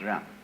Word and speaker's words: Ren: In Confucius philosophy, the fundamental virtue of a human being is called Ren, spelled Jen for reasons best known to Chinese scholars. I don't know what they are, but it's pronounced Ren.